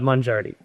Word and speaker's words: Mongiardi: And I'm going to say how I pronounce it, not necessarily how maybe is the correct way, but mangardi.